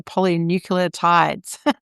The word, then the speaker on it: polynucleotides: scared I'm going to pronounce it wrong, the polynucleotides? Yeah, no, you pronounce it perfectly.